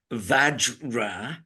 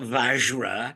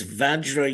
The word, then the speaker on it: vajra: pronounce it vajra not vajra only Americans say vajra I know I'm American I know but it's Sanskrit and Sanskrit has specific rules as to how things are to be pronounced it's vajra yogini VRA yogini yes